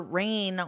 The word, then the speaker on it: reign: is now deceased her Reign was very long and notice my pronunciation the pronunciation sounds exactly like rain rain rain witnessing generations of world